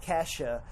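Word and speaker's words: Ke$ha: like it's like Kesha. How there's a $sign in her name, but it's pronounced Kesha.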